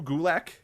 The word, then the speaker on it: Gulak: Drew Gulak. Okay. Rhymes with attack.